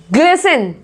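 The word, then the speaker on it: glisten: Next देखो, ग्लिसन, ग्लिसन, यहाँ पे टी साइलेंट है, इसको हम बोल रहे हैं ग्लिसन।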